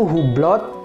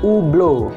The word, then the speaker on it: Hublot: Nah untuk brand ini masih banyak orang yang pengucapannya itu Hublot hablot ataupun hublo nah sebenarnya untuk brand ini ada dua pengucap yang paling sering digunakan Cara pengucapan yang pertama adalah yang paling sering dipakai oleh orang-orang Eropa di mana Jam tangan ini berasal orang-orang Eropa atau aslinya brand ini itu sebenarnya dibaca ublo Oke ublo ublo tapi umumnya orang-orang Amerika